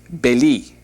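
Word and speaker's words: בלי: The word without is beli.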